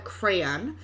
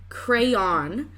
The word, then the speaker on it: crayon: So I'm from Ohio and we call it a crayon, but I do see other people who pronounce it crayon, and other people call it a crown, which I'm not sure where they get the OW from, but I'm curious as